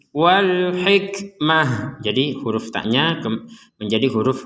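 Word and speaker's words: الحكمة: wkmah nah kata alhikmata perhatikan huruf ta yang bulat ini harakatnya fathah Cuman karena kita berhenti maka huruf Ta ini akan berubah terbaca menjadi huruf ha Wal hikmata kemudian karena kita berhenti menjadi Wal hikmah Jadi huruf tnya menjadi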